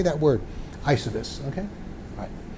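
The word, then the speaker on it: Eysuvis: Okay, it's called Isovis, is how you say it. Like, how do you say that word? Isovis, okay?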